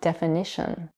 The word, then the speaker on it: definition: For example, when the suffix ation is added to the verb define, the result is the noun definition, which is stress on the third syllable instead of the second one.